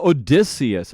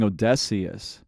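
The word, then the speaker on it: Odysseus: It's Odysius. I've been saying Odessius.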